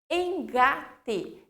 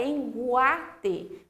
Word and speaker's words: engate: Engate. Eu não tenho U. Se eu tivesse U, ia ficar enguate.